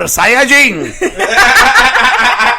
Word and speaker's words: Saiyajin: In Japan, I believe they pronounce it Super Saiyajin.